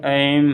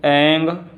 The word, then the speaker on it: ऐं: वैसे तो जो अनुस्वार होता है वह माँ ही उच्चारण होता है उसका। जैसे ओम ऐं ह्रीं क्लीं चामुंडाय विच्चे, यह उच्चारण सही है। और जो तंत्रोक्त पद्धति है उसके अंदर जो प्रथम वर्ण है उसमें ओम ऐंग ह्रीं क्लीं चामुंडाय विच्चे ऐसा उच्चारण किया जाता है।